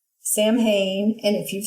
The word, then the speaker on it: Samhain: And I also want to say Happy Samhain to those of you who celebrate, and just